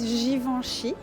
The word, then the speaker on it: Givenchy: So how you pronounce it is Givenchy, and this one is Diptyque.